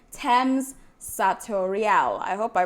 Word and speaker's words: Tem's Satoriale: Okay, so the name is Thames Satoriale. Thames Satoriale. Okay, I thought it was Satoriale. Okay. What language is that? That's Italian. The Italian version, the Italian pronunciation for Satoriale.